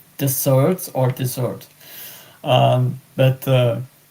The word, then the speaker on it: dessert: in English if it's deserts or dessert. Um but uh it's deser because double s in French.